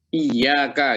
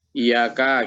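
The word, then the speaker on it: إِيَّاكَ: ini anu ya cara membacanya harus pakai sabdatianya ya jadi iya kah gitu ya jadi nggak boleh nanya Iya Kak gitu nggak boleh ya nanti keliru lagi nah di dalam memahami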